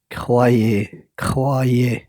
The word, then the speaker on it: croyez: Croyez, OY on prononce wa. Mettez ça dans votre tête.